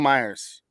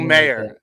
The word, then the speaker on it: Mayer: And then a rookie, Michael Myers, or Mayer, Michael Mayer. Appropriate time of the year for Michael Mayer is actually how you say it.